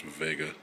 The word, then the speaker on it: Wega: come across this TV um it's a Sony Vega they actually spell it Vega but it's supposed to be pronounced Vega um it is a 30in HD TV CRT